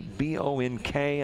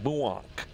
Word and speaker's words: Bonk: And they told me how to pronounce the B-O-N-K. I don't think it's bonk. It's like buonk gang.